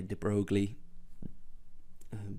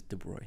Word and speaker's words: de Broglie: People tend to say de Broglie, but the way it should be pronounced is de Broglie.